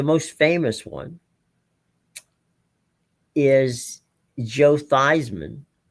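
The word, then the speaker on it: Theismann: Thyman's last name was actually Thesman. Roger Valdisari, who was the SID at the time at Notre Dame, told him, "We're changing your name to the pronunciation of your name to Thyman so I can put you on the cover of our, you know, press guide as Thyman for the Heisman."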